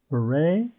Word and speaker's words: beret: This is beret. And it's a French word, and you don't pronounce the T.